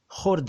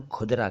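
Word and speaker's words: ख़ुर्दा: असल में ये खुदरा नहीं है, ये खुर्दा है जी। खुर्द से बना हुआ शब्द खुर्दा, लेकिन अब खुदरा ज़्यादा चलता है और खुर्दा बहुत कम चलता है।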